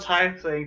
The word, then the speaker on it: tiefling: She is a female tiefling, tall and skinny.